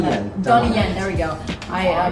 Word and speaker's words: Donnie Yen: So this actor Donnie Hansman, hopefully I'm pronouncing that. Donnie Yen, there we go.